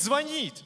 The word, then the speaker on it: звонит: Правильно говорить, звонит.